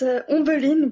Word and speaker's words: Ombeline: So is that a correct pronunciation? Ombeline? It's Ombeline, but don't Ombeline.